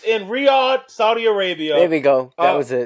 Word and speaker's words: Riyadh: It's in Riad, Saudi Arabia. There we go. That was it. There we go. There I said it right. There we go. Riad, Saudi Arabia, guys.